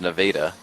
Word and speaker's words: Nevada: there was a minor league team in Missouri Nevada Missouri spelled the same way as Nevada but pronounced Nevada and their name was the Nevada lunatics and